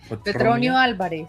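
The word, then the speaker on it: Petronio Álvarez: Petronio Alvarez.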